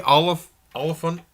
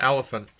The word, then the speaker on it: Olyphant: like because he likes Timothy Olyphant Timothy Olyphant not elephant all I think I